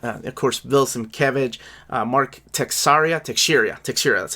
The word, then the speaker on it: Teixeira: Of course, Bill Sienkiewicz, Mark Teixeira, that's how you say it.